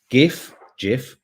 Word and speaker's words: GIF: GIF, it's a hard G.